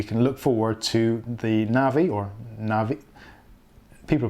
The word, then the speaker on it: Navi: So hopefully, fingers crossed, the Radeon 7 will be the last of that whole architecture, and we can look forward to the Navi, people pronounce it different, but I call it Navi.